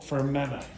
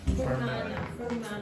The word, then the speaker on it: Fermanagh: Okay, so the pronunciation is what? Banana. No, Fermanagh. Fermanagh. Yes, exactly. Died in a shooting in County Fermanagh yesterday.